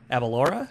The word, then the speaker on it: Aberlour: Abelora is how you say it from the YouTube videos that I had to watch about how to say it.